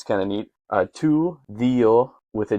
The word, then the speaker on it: δύο: Tu, δύο with a D. I pronounce my Greek Ds as a the because that is how modern Greek speakers pronounce it.